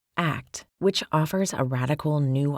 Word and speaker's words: ACT: This book introduces you to acceptance and commitment therapy or act pronounced act which offers a radical